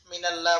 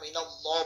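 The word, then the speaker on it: مِنَ اللّٰهِ: সাথে শুরুতে জবর আসছে শব্দ মোটা করে উচ্চারণ করতে হবে মিনাল্লাহ বলা যাবে না মিনাল্লাহ বলতে হবে এখানে করব এবং সময়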